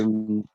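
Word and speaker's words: Huneeus: Profe, el autor Carlos Uneus, si no me equivoco se pronuncia su apellido, Sí, eh, unemos.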